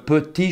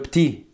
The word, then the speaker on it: petit: E, parce qu'en français, quand le E n'a pas d'accent, c'est prononcé E. Et souvent, ce n'est pas prononcé. Surtout si ce son apparaît à la fin des mots. Mais on peut toujours le prononcer. Et cette chanson qui s'appelle « Le petit cheval blanc », donc on peut